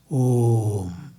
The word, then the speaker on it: Om: A plus oo, when combined, will become O. And join the Anuswara to it, it becomes Om. Actually, it is to be pronounced Om, like this.